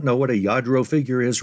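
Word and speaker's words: Lladró: Eventually, you'll probably be able to recognize a Yadro figure. Now, you may or may not know what a Yadro figure is right now. And by the way, it's not spelled with a Y.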